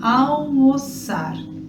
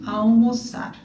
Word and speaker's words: almoçar: Outra coisa também, só pra gente comentar aqui, questão de pronúncia, esse L não é um L, tá? É AU, é quase um U.